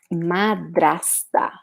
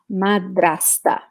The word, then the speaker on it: madrasta: Stepmom, guys, we say madrasta, madrasta. And this word, it sounds a little bit bad in Portuguese because it starts with this first syllable, ma, which is the same as evil.